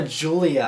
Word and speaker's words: Giulia: this week, and that's the new Alfa Romeo Giulia, I believe is how it's pronounced.